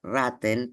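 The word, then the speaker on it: Ratten: que en alemán se escribe y se se pronuncia raten, pero se escribe con doble T.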